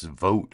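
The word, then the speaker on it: Vought: campaign but now he's hiring this guy Russ vote apparently it's his name is pronounced vote I've heard people pronounce it vot and I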